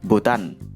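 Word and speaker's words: Butan: Negara Bhutan huruf H-nya dihilangkan dalam bahasa Indonesia, Bhutan.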